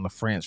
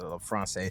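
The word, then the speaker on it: LaFrancé: of lefrance right and I've been seeing LEF France for like a year and he's he pronounced it lefrance which makes sense because they got the a mar over the e but what he's breaking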